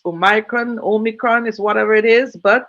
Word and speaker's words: omicron: name omicron um really some people may want to pronounce oh micron but the eye seems to be silenced as omicron and the world health